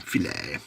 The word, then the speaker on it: filet: Because, See, I love the fact that everyone goes to McDonald's and orders a fillet of fish when it's actually filet because it's a French word.